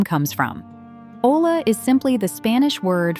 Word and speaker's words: olla: First, meet the olla, pronounced oy ya.